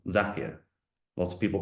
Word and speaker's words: Zapier: For automation, I really recommend a tool called Zapier. Lots of people pronounce it differently, but their CEO says it rhymes with happier. And in general, I'd agree. Zapier, I think, was one